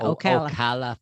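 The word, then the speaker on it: Ocala: where there was other Olympic speed skaters o Okala oala oh I didn't say it righta OCA yeah yeah Okala Florida I used to live I used to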